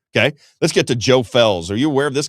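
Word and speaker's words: Felz: So this guy's name is Joe Fells. It's spelled F-E-L-Z, Joe Fells.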